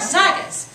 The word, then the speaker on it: Zagat's: Like Zagat's, I've never said that word, is that how you pronounce it? Yeah. Like Zagat's, which can help us find the best places